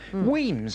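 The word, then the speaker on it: Wemyss: Glasgow you know there's a place called weams Bay right it's on the end of a of a railway line it's quite a famous resort up there weams is spelled w e m Ys really but it's no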